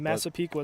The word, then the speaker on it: Massapequa: number 6, Michael Hillis, a freshman forward from Massapequa Park. I don't know how to pronounce that. Massapequa, it's on Long There Island.